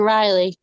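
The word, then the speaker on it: R'lyeh: I mean, it has an apostrophe between, but there's no nothing to make a long I sound in between there.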